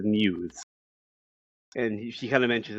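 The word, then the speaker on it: μ's: They start mispronouncing the name, trying to figure out what it is, and then Umi explains it's pronounced as Muse.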